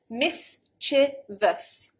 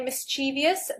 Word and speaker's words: mischievous: pronunciation however the correct the original pronunciation should be three syllables mischevous mischievous not mischievous so